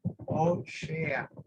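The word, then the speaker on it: הושע: Se dice ahí Oshea, dice ahí exactamente la pronunciación Oshea, ¿ok?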